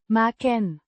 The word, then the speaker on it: maken: Means to make or to do, pronounced Maken. with a short A similar to the a in cat and a short e sound at the end of the last syllable.